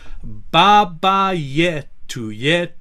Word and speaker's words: Baba Yetu: So to begin with, we have Baba Yetu Yetulie. Let's say that. Baba Yetu Yetulie. And generally, our rules with the pronunciation is that the penultimate syllable is going to have the weight.